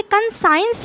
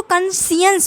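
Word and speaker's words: conscience: याद रखना है की ये कंजाइंड नहीं बोलेंगे इसको भले इसकी स्पेलिंग साइंस जैसी है लगभग मतलब की कौन अगर हटा दिया जाए तो पर इसको कॉन्शांइस बोलते हैं साथ ही साथ मतलब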